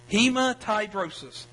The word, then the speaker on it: hematidrosis: to I'm going to attempt to Butcher and pronounce this word okay it's uh hemat hematidrosis h e m a TI d r o